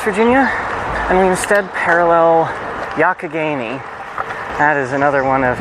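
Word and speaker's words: Youghiogheny: and we instead parallel Yakageni. That is another one of the uh Pittsburgh areas fantastic spellings, Yakageni. Phonetically, it more resembles Yugaogeni, but it's pronounced almost with a ck.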